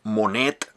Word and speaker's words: Monet: Monet from one piece I call her Monette with T at the end like her name I think the the